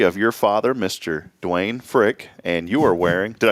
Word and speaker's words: Frick: Dwayne Frick, and you are wearing, did I say it right? Frick.